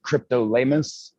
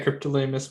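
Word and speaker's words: Cryptolaemus: Is it Cryptolamus? Yeah, Cryptolamus montroseri is how I pronounce it.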